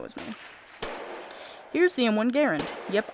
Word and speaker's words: Garand: me here's the m1 garand yep i said garand not grand sue me it's how the guy who made it pronounces it so i pronounce it the correct way screw you guys ready